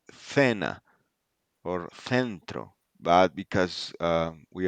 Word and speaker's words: cena: we are in America, we pronounce it as an S, so it will Okay. be cena, Cena. centro, Centro. yeah. So if you go to Spain and you hear that, they will pronounce it like yeah. Okay. We will say lenguisopas, because they have a lisp, a Mm-hmm.